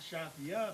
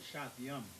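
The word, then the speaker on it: שתים: Not Shathia, but Shathyam. Shathyam.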